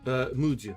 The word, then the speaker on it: Madhya: "Madhya," said Johnny, pronouncing it something like Mudya.